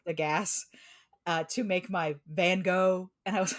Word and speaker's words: Van Gogh: Here's a brief aside about name pronunciations. It's not Van Gogh. It's Van Gogh.